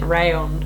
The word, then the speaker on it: Rallon: wanting to get a rallon if that's how you say it i know that some people pronounce it rayon but because it's double l but yeah rallon because